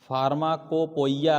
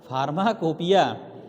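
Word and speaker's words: pharmacopoeia: टेढ़ा स्पेलिंग है इसका, PHARMA, फार्मा, COPOEIA, फार्माकोपोइया, अगर ढंग से देखो ना, है ना? लेकिन हम पढ़ते क्या है? फार्माकोपिया। अगर ऐसे करोगे फार्माकोपोइया हो जाएगा ना, नहीं, कोपोइया नहीं, फार्माकोपिया, इंडियन फार्माकोपिया, ठीक है।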